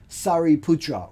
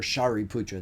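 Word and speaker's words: Śāriputra: were Maha Mogalana and Sari Putra or Shahi Pura that's the other way to say his name whom we mentioned when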